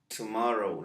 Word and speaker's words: tomorrow: Mañana. La O no tiene sonido. T y M se pronuncian juntos y decimos tomorrow. La W no tiene sonido, la O se pronuncia en inglés, tomorrow. Y esta O, bueno, la utilizamos como un poquito tipo A. Pues decimos tomorrow.